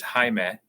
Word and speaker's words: Jaime: And at some point along the way, my given name is Jaime, but nobody could say that. It's spelled the same way, and everybody says, okay, it's Jamie, and so I just